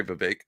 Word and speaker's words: Vivek: hates V I'm sorry V rhymes with cake and uh V was